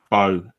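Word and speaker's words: Mbow: Also, according to the according to the beast, it is bow like bow and arrow. Marcus bow. The m is silent. Cool.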